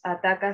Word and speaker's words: Atakaw: un canal de YouTube, somos Ataca Cine, se escribe ATAKAW Cine, que significa qué miedo ataca, significa qué miedo en quechua.